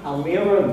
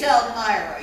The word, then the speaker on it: Elmira: Does the name Elmira Gulch mean anything to you? It's Elmira. You better watch that movie one more time. Get it right. Elmira! 3 syllables.